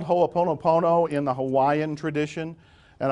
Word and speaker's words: ho'oponopono: that's one of the techniques hmm it's called ho'oponopono in the Hawaiian tradition and I wasn't going